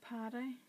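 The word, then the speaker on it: pâté: Pate, but I pronounce it as patty, like as though it's P-A-D-D-Y, the name in Ireland.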